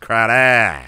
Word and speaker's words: Crowder: playing would be Jameson Crowder just because I you know I don't expect them to be airing it deep with who's that again crowd oh I'm sorry it's pronounced Crowder how do we not